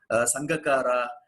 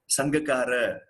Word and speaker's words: Sangakkara: Actually, in their country, they don't call them Jayawardena, Sangakkara. They call them Jayawardena, Sangakkara. This is how they are called. So the A at the end of a word doesn't need to take the R sound as we usually have in the Indian languages.